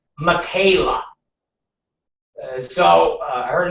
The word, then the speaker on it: Michaela: And again, why the uh CNN executives Katie goes her name is pronounced like Michaela. So, uh, her name is like, uh, Michaela.